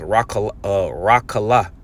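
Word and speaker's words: רְכֻלָּה: This word traffic in the Hebrew is pronounced rakala. All right, rakala.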